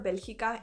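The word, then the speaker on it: Bélgica: i'll probably say both i prefer belgica in spanish because that's my name that's what i have always been called so i try my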